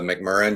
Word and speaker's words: McMurrain: don't worry about it it's uh mcmurran you pronounce it without the a so ah tom nick